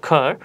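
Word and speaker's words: cur: চাই তাহলে আমরা বলবো খর, অথবা আমরা যদি ব্রিটিশ অ্যাকসেন্ট লক্ষ্য করি তাহলে আমরা উচ্চারণ করবো শুধু খা, র উচ্চারিত হবে না।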